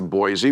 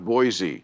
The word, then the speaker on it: Boise: You can't get to Boise, which I know you're going to. Boise. Boise, yeah, not yeah. Boise. Don't say it like that.